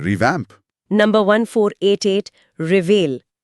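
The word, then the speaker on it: reveille: revamp number 1488 रिवेल उच्चारण पर ध्यान दें रेवेले रेवेली रेवेले हिंदी अर्थ फौज में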